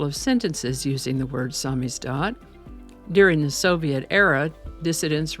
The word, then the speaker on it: samizdat: way spelled it looks like it would be pronounced Sam is that or Sam as that but the correct pronunciation is samis do samis do is a noun it's a Russian word that